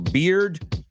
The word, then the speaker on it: beard: Beard rhymes with teared.